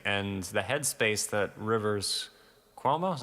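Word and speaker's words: Rivers Cuomo: is really interesting and the head space that Rivers quo is how you pronounce his name Rivers quo was in is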